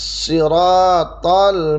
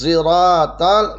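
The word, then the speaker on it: الصراط: Terus ada juga yang ketiga, as-sirat ini dibaca dengan diismamkan shad ke za. Jadi bunyinya begini dibacanya, ihdinas siratal mustaqim. Shadnya itu antara shad dan za, kayak bunyi huruf za. Saya ulangi, ihdinas siratal mustaqim.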